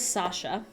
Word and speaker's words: Sacha: at Disney World um his name was Sasha and but it was spelled like Sacha um oh no Co